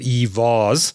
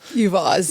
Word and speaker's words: EVaaS: as a service startup, how do you pronounce it? EVaaS. EVaaS, Electric Vehicle as a Service.